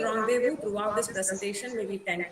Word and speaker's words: rendezvous: Yeah, it is pronounced as rendezvous. It might come RENDEZVOUS. Okay, it's rendezvous. It's a French word.